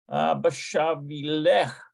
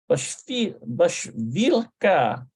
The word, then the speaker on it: בשבילך: Bashavilech. Bashavilech. For you, Bashavilech. I think it's Bashavilech. Let's take a look at that. Bashavilech. I bet you it's lecha. שמתי גלידה במקפיא בשבילך. Bashvilka.